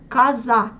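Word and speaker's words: коза: Casa, écoutez, je prononce A à la place de O parce que c'est une syllabe atone. Casa.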